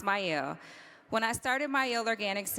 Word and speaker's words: Mielle: When I started Myel, and it's pronounced Myel. People pronounce it wrong all the time, but it's okay. It's pronounced Myel.